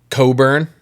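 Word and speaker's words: Cockburn: like it's like a Coburn. Uhhuh. Is how it's pronounced. Uhhuh. But it's like an Irish Scottish name.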